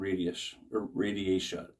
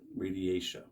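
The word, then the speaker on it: radiata: There's 3 common types of eucalyptus that's used, and that's eucalyptus dives, globus, and radiatia is how you pronounce it, radiatia.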